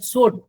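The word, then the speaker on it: Suite: করব হলো মেটা business সুট কেউ এটা সুইট বলে কিন্তু এটা কে উচ্চারণ সঠিক উচ্চারণ হলো সুট মেটা বিজনেট সুট আমি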